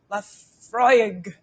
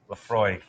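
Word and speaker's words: Laphroaig: Lafroig. That is perfect. Lafroig.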